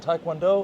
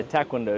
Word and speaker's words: Taekwondo: Is karate and taekwondo, or which one is it?